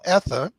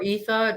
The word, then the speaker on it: Etha: you pronounce it yeah so i like to keep it up into interpretation because it's only fair you know it's okay or ethan depends on what you know who where you come from however you want to pronounce it um but the name